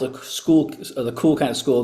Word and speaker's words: Skool: So again, school has basically, I call it the school, the cool kind of school because it's spelled SKOOL.